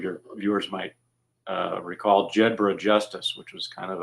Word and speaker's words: Jedburgh: of code names so the proper pronunciation is jedra but sometimes we Americans U put our own spin on things that's that's perfectly understood